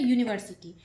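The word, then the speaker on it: university: यहां देखिए यूनिवर्सिटी है तो यह वोवेल ठीक है यूनिवर्सिटी लेकिन इसका उच्चारण यू यू क्या है एक व्यंजन वर्ण है और व्यंजन वर्ण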